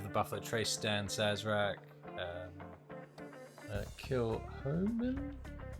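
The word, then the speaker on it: Kilchoman: Kilhoman, it's pronounced over here.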